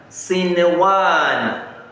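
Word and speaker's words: صنوان: Another example is sinewan. Sinewan. You will not say sinewan. No. Sinewan. You apply izhar.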